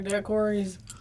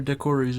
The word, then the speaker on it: daiquiri: We're not going nowhere with no strawberry daiquiris. Where the strawberry decories at? Why do you say it like that?